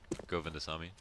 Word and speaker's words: Govindasamy: Govindasamy. Yeah. Yeah, you were close. Just Govindasamy.